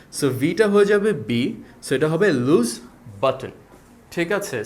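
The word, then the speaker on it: Louis Vuitton: But typically বাংলাদেশীরা যেটা করে এটাকে লুই ভুটমো বলে প্রোনাউন্স করে থাকে। যেটা ভুল উচ্চারণ। সো এটার আসল সঠিক উচ্চারণ হচ্ছে লুজ। সো এটাকে লুই না বলে আমরা বলব লুস আর এটাকে ভি এর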